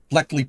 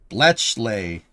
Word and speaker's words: Bletchley: Bleley Park, World War II Enigma code breaking. Oh, Bletchley. Bletchley. Oh de I couldn't I couldn't pronounce it right, Tessa, so I had no freaking idea what you were talking about.